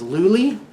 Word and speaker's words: Luli: So marriage, yeah, I married, her name is Luli, rhymes with Julie.